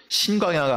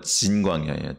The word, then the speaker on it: 신광야: 시내산 쪽으로 이렇게 지나가면서 신 광야가 한 번 더 있어요 그거는 신광야 이건 정확하게 발음하면 진 광야 진 근데 이제 우리나라 발음으로 그냥 같이 신광야라 그러는데 어쨌든 그렇게 한 바퀴를